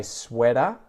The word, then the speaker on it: sweater: Both of those, like difficulty and better before, have the T flap. So I would say sweater and butter.